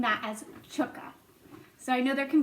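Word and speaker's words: Tchke: c h k e I'm going to be pronouncing that as chukka so I know there can be a few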